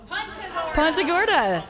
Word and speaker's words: Punta Gorda: Punta Gorda, Punta Gorda, Punta Gorda, Punta Gorda, Good morning, Punta Gorda. Is it Punta Gorda or Punta Gorda? Punta Gorda.